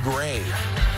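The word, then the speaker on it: Gray: songs by rapper juvenile juvenile's real name terrius grave which rhymes with mcveigh boom going to the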